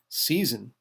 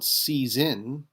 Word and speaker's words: seisin: It's also spelled seisin without the S, since it's pronounced like with a Z. Also termed vesture seisin, uh in Scots law, and in seisin.